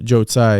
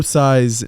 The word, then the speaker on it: Tsai: I mean, I can tell you this: the owner of the team, Joe Tsai, is that how you pronounce his name? Of the Nets? Tsai, yeah, the owner of the Nets.